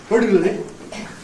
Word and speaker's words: particularly: Anyway, it soon became clear to me that particularly was, in fact, well, let's put it this way. He was stressing the first syllable of this adverb when he should have been stressing the second one.